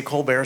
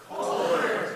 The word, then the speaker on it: Kolbert: And we're not going to say Co Bear. So, together, let's say her name. It is Elizabeth Coar.